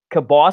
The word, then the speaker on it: kielbasa: you to pronounce it I did not know that that is how Pittsburghers pronounce that Polish sausage not kielbasa like the rest of the world does I don't know where